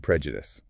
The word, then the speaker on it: prejudice: And prejudice. P R E. Judas. Watch that short e sound at the start.